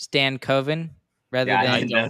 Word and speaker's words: Stankoven: You know, I actually didn't know this, but you know his last name is actually pronounced Stan Coven rather I than didn't know that.